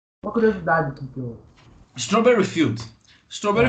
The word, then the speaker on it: Strawberry Field: Chama Strasberry Field. Não sei se eu falei também a pronúncia certa. Eu queria saber o que é exatamente. Uma curiosidade aqui que eu. Strawberry Field.